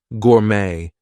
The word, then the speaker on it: gourmet: from other languages Etc so things like ballet Gourmet we are not going to pronounce the T there she's a ballet dancer